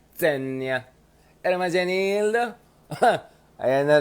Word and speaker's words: Zegna: I just got to know, Ermagianildo Zenia. Yung brand na yan. I learned how to pronounce it. Zenia. Ermagianildo Zenia. Ganon dapat yan. Ermagianildo Zenia. Okay, hindi siya Zegna. It's a Zenya.